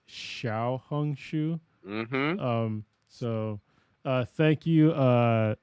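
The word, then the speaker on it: Xiaohongshu: uh xia hung Shu I've been saying it wrong I said xia hung Shu before it's Shia hung Shu um so thank you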